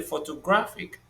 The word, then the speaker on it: photographic: And in the photographic, a is the sound that is stressed.